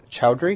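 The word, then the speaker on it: Chaudhry: court chief justice is his last name is pronounced chowdhury yes see the child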